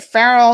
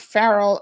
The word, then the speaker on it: Farrell: purple rain says yes you said it right farrell is not feral okay listen i totally